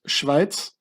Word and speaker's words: Schweiz: In German you say Schweiz, but in Swiss German you say Schwyz, which means Schwester der Isis, Schwyz.